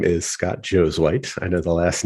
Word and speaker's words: Josuweit: the last name so it's spelled Joe's white so that's how it's pronounced just like like Joe is Caucasian Joe's wipes that's the easiest way to remember it there um and people